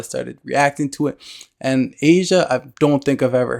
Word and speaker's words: Aja: guys told me that this one is pronounced Asia now I reacted to